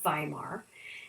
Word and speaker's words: Weimar: called the Weimar Republic some will pronounce it Weimar and so yes they